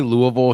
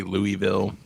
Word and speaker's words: Louisville: thanks Melissa um it we say Louisville here but I think it's just because we get uh lazy on our pronunciation it's probably really Louisville well we just say Louisville um and I am